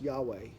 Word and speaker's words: Yahweh: and then actually in the Hebrew it is why HWH the name of God probably pronounced Yahweh the God of your